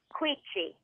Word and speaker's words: Quici: It's Italian, so it's Quici. Quici. That's in the middle. Quici. Like the CI is pronounced like CH.